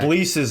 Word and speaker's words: Chablis: Chablis's, and all of a sudden he's going to tell me about Listen.